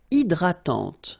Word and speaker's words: hydratante: Une crème hydratante. So remember, H is not existing, and then this Y is pronounced like I.